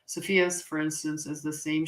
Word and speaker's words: Cepheus: The constellation of Cephalus or Cepheus, say it right. Cepheus, for instance, is the same shape as the temple marking of Indian palmistry.